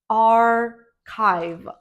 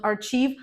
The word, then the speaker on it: archive: finally this word is archive archive not archieve archive yes usually CH is pronounced as CH in English but there are many words when CH is pronounced as K that's why archive by the way do